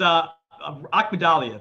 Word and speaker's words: Akhmadaliev: Like next Saturday, we have Lipinets against, I'm not even going to try to pronounce his name. Ryo, I got you. It's Akhmadaliev.